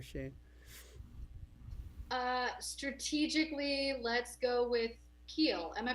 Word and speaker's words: Kiel: Strategically, let's go with Kiel. Am I pronouncing that right? It's Kyle. No. Kyle. Kyle. And go ahead with Kyle. We're going with Kiel Holmes, everybody. Who would spell Kyle that way?